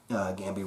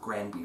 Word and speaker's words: Granby: And yes, I'm saying Gambi roll because R's are pronounced as H's in Portuguese, and that's the right way to say it, not Granby roll.